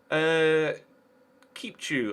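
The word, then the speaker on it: Chipciu: We follow that with Alexandru Kipchu, I believe is how it's pronounced. I was corrected on that in the comment section of a previous episode.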